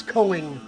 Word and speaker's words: Koenig: You got the it's like Koenig is the way it's spelled, but it's Coing, whatever.